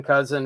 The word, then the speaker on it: Kousen: Again, my name's Ken Kousen. It's Kousen like the relative. It just doesn't look like it.